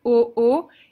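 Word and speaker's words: aux: if it's plural but you don't pronounce the X itself so oo it's pronounced the same but it's written differently you had also to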